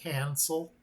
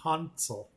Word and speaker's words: Hansel: Over here in the States, we'd probably say Hansel, when actually, if I had to give it the correct pronunciation, it should be Hansel.